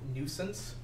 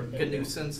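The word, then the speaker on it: gNewSense: It's called Nuisance or Gusance. I I never know if I'm supposed to pronounce a hard or soft G for these things. I believe it's the hard G.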